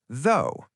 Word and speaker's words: though: Though, it's pronounced like the O, not the ow.